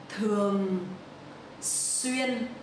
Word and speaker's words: Thường xuyên: Thường xuyên. So the TH in Vietnamese we will pronounce like th. It's not the in English.